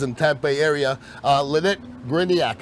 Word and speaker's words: Gryniak: of the voices in tampe area uh lynette griniak how are you doing yeah good you said